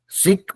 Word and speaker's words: seek: My word is seek. सीख, Yes, sir. देखिए इसमें ध्यान रखिएगा खाली। सिक मतलब होता है बीमार, SICK। SEEK सीक बोलेंगे, मतलब उसका उसका मीनिंग प्रोनाउंसिएशन दोनों अलग हुआ।